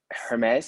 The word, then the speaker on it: Aermes: so yes so uh my name is hermes and you can pronounce it like the god hermes with the h letter but my name starts